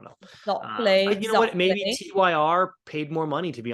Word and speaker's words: Tyr: It's pronounced Tyr, and it's a swimsuit manufacturer.